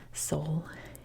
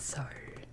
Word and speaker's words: Seoul: And of course, the capital city up here is Seoul, which I say with the accent, it's Seoul in my Californian accent, but it's pronounced Seoul in Korean.